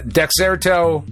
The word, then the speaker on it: Dexerto: Uh, Dexerto, I think is how you say this.